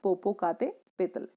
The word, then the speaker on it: Popocatépetl: This mountain is pronounced as Popocatépetl.